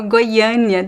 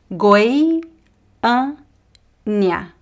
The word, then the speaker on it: Goiânia: Um Uh Goiânia. This is tricky because it has many vowels, right? So repeat after me. Goiânia Goiânia So we do pronounce every single vowel here. Goi a nia Goi a nia Goiânia